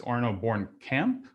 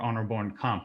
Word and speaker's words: Bornkamp: um your name pronounced one of two ways arno bourne camp or honor born comp would you care to correct the record for everybody yeah that's good arnold bourne comp all right perfect thank you um before we